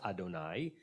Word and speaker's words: Adonai: So it's pronounced Adonai from my Lord.